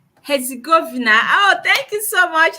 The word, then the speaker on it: Herzegovina: Yeah, it is pronounced Herzegovina.